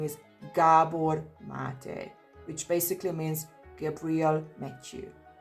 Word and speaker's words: Gabor Maté: Finally someone pronounces it, because in reality he's Hungarian just as I am, and his perfectly pronounced name is Gabor Maté, which basically means Gabriel Matthew.